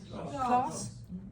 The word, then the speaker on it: Claus: Uh is it class or to pronounce his name? Class.